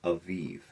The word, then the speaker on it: Aviv: of Eve which it's spelled ab I but pronounced avivve.